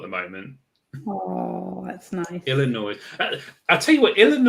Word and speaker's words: Illinois: Illinois. I'll tell you what, Illinois, another interesting state name, Illinois. Who thought of Don't that? say the S. You don't say the S. Yeah, you say Illinois.